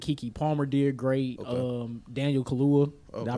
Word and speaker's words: Kaluuya: Daniel Kaluuya. Did I pronounce his name right?